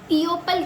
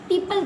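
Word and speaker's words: people: जैसे पी ई ओ पी एल इ। अब इसको हम इओ पल क्यों नहीं पढ़ते? पीओपल क्यों नहीं पढ़ते? पीओपल पढ़ा है कभी? नहीं ना? पीपल पढ़ते हैं हम।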